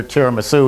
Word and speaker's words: tiramisu: So we actually put up on the sign under tiramisu, which is spelled T-I-R-A-M-I-S-U, we put Tara, and then Ma, as in mommy, and Sue, as in the girl's name.